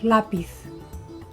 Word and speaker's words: lápiz: When the stress falls in the second to last, or what we call penultima, penultimate syllable, that's called llana. Llana. Like lápiz. Lápiz.